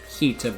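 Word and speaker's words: Hiita: Or Hita, but I pronounce it Hilta because I'm an idiot.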